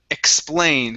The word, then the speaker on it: explain: with pronunciation is um explain give me a good pl here it's expl explained explain good one more time